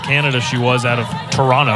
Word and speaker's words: Toronto: Best player coming out of Canada, she was out of Toronto. I don't pronounce that second T today.